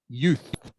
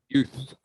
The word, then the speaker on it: youth: okay canadian canadian and this one is youth youth youth the same as you just with th on the end youth youth so canadian